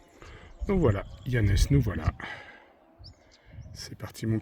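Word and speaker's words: Llanes: Mais les personnes parlant couramment espagnol savent évidemment que de L ça se prononce. Donc voilà Yanes, nous voilà.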